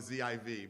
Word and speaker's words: Ziv: Okay, because they spell it Z-E-V-E, and I would have spelled it Z-I-V, but I wanted to make sure I had it right.